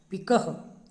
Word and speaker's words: पिकः: विसर्ग अब हिंदी में हम बोलते हैं बालक, लेकिन जब संस्कृत में इसका उच्चारण करते हैं तो बालकः, छात्रः, पिकः, उसका उच्चारण ह हो जाता है।